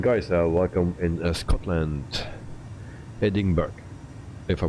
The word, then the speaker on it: Edinburgh: our mission impossible The Landing Rob Brown uh pronounce Edinburgh as a hidden um Burger Edinburgh it didn't burn uh okay uh I will